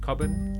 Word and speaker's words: Cobban: And your surname, I pronounce it coin. Yeah. Very nicely done. Okay. No, it's I it's British, so Yeah.